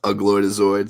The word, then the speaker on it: Ugloidazoid: Hey, it's pronounced Ugloidazoid, so you got it right.